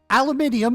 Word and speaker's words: aluminium: Aluminium is the correct pronunciation.